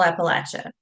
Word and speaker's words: Appalachia: Now, here in Central Appalachia and Southern Appalachia, we say Appalachia with a short A.